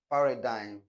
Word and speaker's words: paradigm: go in nash no not n Rain foreign paradigm paradigm paradigm line champagne and so forth.